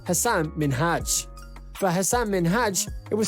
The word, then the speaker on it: Minhaj: She kept pronouncing Minhaj as Minaj, and in all honesty, no one wants to hear their name pronounced wrong.